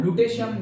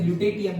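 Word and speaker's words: lutetium: Okay, तो वही बोल रहा हूँ, ल्यूटेशियम मैं सुनता आ रहा हूँ, अदरवाइज ल्यूटेटियम भी बोलते हैं।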